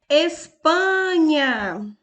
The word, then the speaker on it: Espanha: a sílaba mais forte Espanha e a palavra em Espanha também é paroxítona a sua penúltima sílaba UPA é a mais forte na pau na